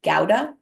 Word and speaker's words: Gouda: So what I learned is actually, although I pronounce it Gouda and most people around here probably do, technically it is pronounced Gouda.